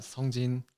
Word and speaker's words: Song Jin: Actually, I'm Song Jin. Song Jin. Everyone knows as a Jin because Song Jin is like hard to pronounce it for everyone. For Americans, not for Koreans.